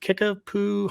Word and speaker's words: Kickapoo: Kickapoo High School, is that correct?